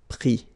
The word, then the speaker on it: pris: Mettre, mi, and then E-N-D-R-E, I-S, but then same thing here, the sound I. Prendre, pris.